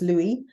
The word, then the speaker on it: Louis: Some people pronounce it Louis. It's Louis, like Louis Armstrong, Louis Vuitton.